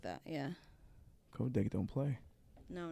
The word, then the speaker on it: Kodak: Yeah, Kodak. They had to Kodak. They had to rebuild they had to build a warehouse and dedicate it just to that. Damn, Kodak. Or some shit like that. Yeah. Kodak don't play.